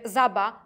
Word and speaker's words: żaba: Mazurzeniu ulega tylko [ż] to zapisywane jako [z] z kropką, czyli: „żaba” to będzie „zaba”, ale „rzeka” to zawsze w gwarach będzie „rzeka”. Jeżeli w reklamach albo filmach usłyszycie „taleze” albo właśnie „zeka”, to znak, że twórca tych tekstów niekoniecznie wykazuje się świadomością stylizacyjną.